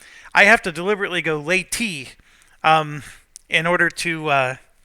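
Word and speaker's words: Leyte: I am pronouncing it it does sound like the word lady um and of course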